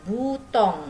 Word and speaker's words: bouton: Nih, butong ya, dibacanya OU jadi U ya.